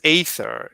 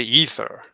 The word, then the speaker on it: aether: you as well but no one says ather it's it's spelled Aether but usually people say ether ether yeah whatever yeah